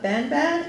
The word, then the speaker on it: BenBen: and myself are talking to bob ben ben is that how you pronounce your last name right can you spell